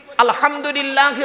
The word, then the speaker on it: আলহামদুলিল্লাহ: আলহামদুলিল্লাহি রাব্বিল আলামিন। আলহামদু, এই গলার ভেতর থেকে হেটা উচ্চারণ করবেন, আলহামদুলিল্লাহ।